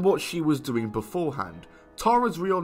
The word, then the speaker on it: Tara: talking about today is tara or as americans pronounce it tara uh i'm british so i say tara sorry not sorry and